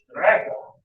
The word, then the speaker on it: Strecke: to be careful, but it comes from the German word Strecke. You have to say it like that. Strecke.